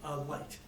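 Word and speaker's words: Licht: Light. Like the light above. Sorry, thank you. It's spelled right. It's spelled L-I-C-H-T.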